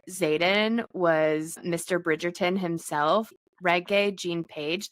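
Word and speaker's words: Regé-Jean Page: was Mr Bridgerton himself reg Jean pagee that's how you actually say his name is like reggae um which Kirsten and I kept calling him Renee Jean Paige the whole time we both were like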